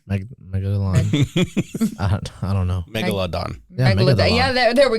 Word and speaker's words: Megalodon: cuz we haven't seen I believe in a megalon megalon megalon me megalon I don't know Megalodon Meg yeah there there we go see I